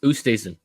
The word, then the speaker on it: Oosthuizen: Oh, Othusian? I forget. Luis Oosthuizen.